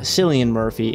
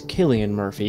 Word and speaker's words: Cillian Murphy: It's not Cillian Murphy, it's Killian Murphy. It's pronounced Killian.